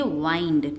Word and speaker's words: wind: अब यहाँ पर भी वही सेम स्पेलिंग आई है, WIND, पर इसे हम विंड नहीं कहेंगे, हम इसे कहेंगे वाइंड.